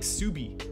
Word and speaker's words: Ksubi: honestly i really like subi uh it's it's spell i don't know if the k is silent i always think it's silent in my head but it's pronounced it's